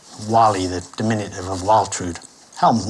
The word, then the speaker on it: Walli: Who's Valley when he's at home? Milo, spelling it phonetically, you should have a W. Wally, the diminutive of Waltrud.